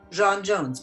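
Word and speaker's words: J'onn J'onzz: Let's make it like the French Jean. Okay, Jon Jones.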